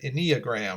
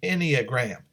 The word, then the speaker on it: Enneagram: and ii AGR am you might have pronounced it iniya gram or something like that but it's the Enneagram and so the subtitle